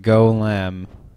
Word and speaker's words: Golem: Like say like like if you're like rooting for Lem, it's like go Lim. It's not like Lem has the G to I'm really sorry.